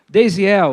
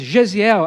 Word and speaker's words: Daysiel: Bem-humorado aqui, porque o meu nome, eu digo assim, a pessoa diz assim, eu digo assim, Deisiel, aí a pessoa diz Gesiel, aí eu digo assim, tá bom, né?